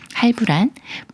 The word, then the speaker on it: 할부: 브로 소리내는 예외인 경우예요 먼저 하에을 소리를 붙여서 할이라고 읽어요 할 다음에 부라는 말이 와서 할부가 되는데요 할부란 분할에서내는 납부에 따라서 할이 꾸며 주는 말이고 이